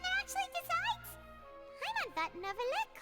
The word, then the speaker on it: Neuvillette: I just realized I should have known how his name should be pronounced because the number 9 is Neuvillette.